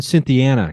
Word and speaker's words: Cynthiana: yeah definitely and the um now you're in Cynthiana Kentucky is that correct that's right and thanks for pronouncing it the right way yeah I mean